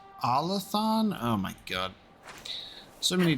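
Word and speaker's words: Arlathan: forgotten I think I used to say it R Latham but then I think in the game it's pronounced allathon oh my God so many different ways you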